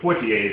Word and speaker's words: Poitier: I think Sidney Poitier is what I've always heard.